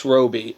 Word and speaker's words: Robbie: Quinn Margot Robbie yes Robi it's not Robbie I know there's two bees in it but i'm pretty sure that however she pronounces her name is correct it's Margo Roby um so don't give